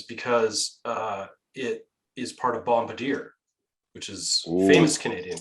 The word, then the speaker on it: Bombardier: Canadian company is because it is part of Bombardier, which is a famous Canadian company. Is it Bombardier or Bombardier? Oh yeah, pardon me. It's Bombardier. I'm from Manitoba, so we still call it Bombardier.